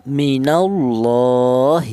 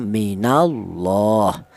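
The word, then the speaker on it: من الله: Kemudian Di sini ada lafaz minallahi. Di sini ada lafaz Allah lagi. Di mana lafaz Allah ini didahului huruf yang berharokat fathah, ini dibaca tafkhim atau dibaca tebal. Cara bacanya minallah.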